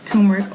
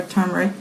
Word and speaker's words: turmeric: So that is turmeric or turmeric, depending on how you want to pronounce it.